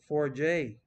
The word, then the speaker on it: Forget: Mark says, just to clarify, my name is pronounced Forjay. It's a French.